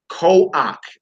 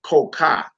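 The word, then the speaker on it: כח: That's ko-ak, not ko-ka.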